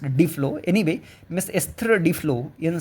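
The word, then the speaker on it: Duflo: A pathbreaking study by Nobel laurate Miss Esther Dlo actually it's pronounced Dflow.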